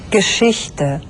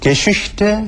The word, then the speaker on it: Geschichte: SCH 슈로 발음되거든요. 한번 직접 들어보시죠. Geschichte. Schule. Tisch. 네, Geschichte, Schule, Tisch 전부 SCH가 쓰였는데 발음은 슈 이렇게 됐죠.